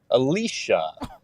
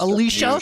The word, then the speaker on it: Alitia: It's Alitia, and it's pronounced Alicia. Come on, Alitia. There's no S Yeah. or no H, but it's just Alicia.